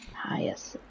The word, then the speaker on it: Hyacinth: How do you pronounce her name? Miss Hyacinth. Hyacinth.